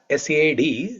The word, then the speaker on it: sat: Because of Sanskrit sandhi, it is written as sad. It is actually what? Sat. S-A-T, sat. It's pronounced as S-A-D, sad.